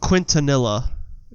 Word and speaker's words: Quintanilla: Quintanilla.